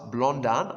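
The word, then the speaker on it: Blondin: 30th of june 1859 charles blondean i believe it's pronounced a french titrope artist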